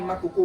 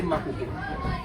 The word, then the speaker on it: Makoko: If they want to pronounce this Mahoho, they say Makoko. So that's how we have the community name called Makoko today.